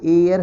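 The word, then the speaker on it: heir: तो राज इज एयर of this state का, ये एयर है ना, ए से स्टार्ट होगा।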